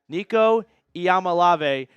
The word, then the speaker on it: Nico Iamaleava: I learned how to pronounce my own quarterback's name. Nico Iamaleava, first round pick 2026 train.